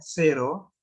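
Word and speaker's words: cero: जीरो को हम कहते हैं सेरो, सेरो।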